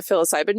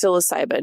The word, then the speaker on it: psilocybin: I've done though or psilocybin I always say it wrong and someone always messages me they're like it's psilocybin not fil ayban and I'm like well it's spelled pH okay but I'm going to